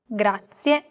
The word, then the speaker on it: grazie: A very common mistake many learners make when pronouncing this word is that they don't pronounce the final E clearly. Listen closely to how I pronounce this word. Grazie. Grazie. Another aspect that can be difficult for beginners is learning how to roll the R.